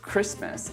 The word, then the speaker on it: Christmas: There's also the words Christmas and match, which I often see my students trying to pronounce the T.